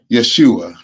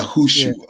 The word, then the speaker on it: Yahushua: Yeah, see, It's I know the Aramaic is Yeshua, but I go by the Hebrew, the pronunciation, which is yeah, Yahushua.